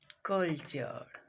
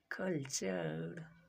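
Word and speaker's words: culture: यू आर ई आए तो टी का उच्चारण चौ होता है।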